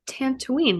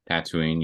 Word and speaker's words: Tatooine: Eve right now where she's at she's on tantooine right Tatooine yes yeah sorry I might have mispronounced it but I meant um we see